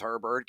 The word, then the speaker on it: Herbert: countdown Justin Herber yeah I know how to pronounce his name it's Herbert give me the over on three and a